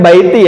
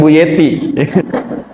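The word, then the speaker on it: بيتي: Bacanya baiti ya, bukan buyeti.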